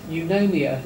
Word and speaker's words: Eunomia: Eunomia Limited, which is took me a long time to work out how to pronounce it, but that is how you pronounce it.